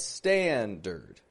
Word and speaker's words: standard: d a d but notice I'm not saying standard but standard standard strong weak that is a schw r sound in the second syllable of standard but it's in the